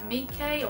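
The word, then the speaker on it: Meike: This is made by Mike, or Mike. It's spelled M-E-I-K-E.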